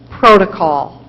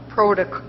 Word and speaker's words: protocol: Protocol. Are there any alternate pronunciations? There are several. Protocol, protocol, and protocol. I think the one most familiar is protocol.